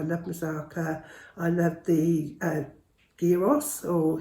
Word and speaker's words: gyros: I love the gyros, or heros as they, some people call them gyros, but I think the Greeks pronounce it as heros, I believe, or gyros, gyros I think they say.